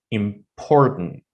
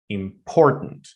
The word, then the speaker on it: important: For example, look at this word here. Important. Important. You see, I'm putting extra syllable uh or let's say somehow not extra syllable. It's like an extra stress right now because I want you to understand that uh I'm saying like important important but I don't say important I say important.